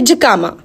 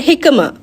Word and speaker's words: jicama: अब उसका अगर आप ब्रिटिश प्रोनाउंसिएशन देखेंगे तो वो है जिकामा, और अगर आप उसका अमेरिकन प्रोनाउंसिएशन देखेंगे तो वो है हिकमा।